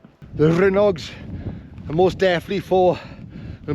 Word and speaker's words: Rhinog: right well I'm here the pronunciation of the Rog I've heard a lot of people say the rhog I've always thought it's the Rog so many people calling them the rhs and on my